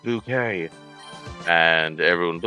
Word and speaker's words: Bucket: It was sort of a drama show and the main character's last name was Bucket and she's like, "It's pronounced bouquet."